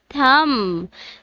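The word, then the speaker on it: thumb: एंड the third one इज थम, जिसमें B silent है.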